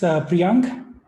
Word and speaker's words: Priyank: It's Priyank.